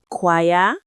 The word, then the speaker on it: choir: Machine, choir, champagne, match. Take a second. Think about it. And the answer is D. Match. Of course it is. Machine has a shh sound. Choir starts with a K sound.